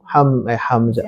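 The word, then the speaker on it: حمزة: Contohnya hamzatu hadza hamzatu hamzah, bukan ha tapi ha ya.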